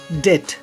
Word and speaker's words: debt: बी जब कभी वो किसी अगर शब्द के अंत में BT एक साथ आए, BT, तो उसमें भी बी साइलेंट होता है। For example डाउट DOUBT एंड डेट DEBT, डेट means कर्ज होता है।